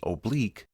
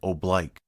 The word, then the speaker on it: oblique: While the proper pronunciation in English is oblique, the U.S. military uses oblique.